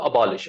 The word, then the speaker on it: abolish: The pronunciation of abolish is what? Abolish, abolish, abolish, abolish, abolish. It's more or less like polish. When we polish our shoes.